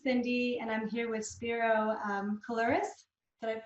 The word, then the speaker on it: Spiro Koulouris: This is Cindy, and I'm here with Spiro Coloris. Did I Yeah, pronounce it right?